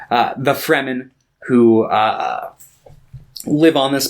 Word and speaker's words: Fremen: the uh the fremen i always want to call them the demon that's like that's not right uh the fremen who uh live on